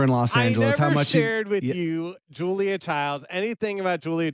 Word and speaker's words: Child: Los Angeles, you Julia Childs, anything about Julia Childs. I never watched Julia Childs. Stop. Yeah. Is her name Julia Child or Child? It's Child.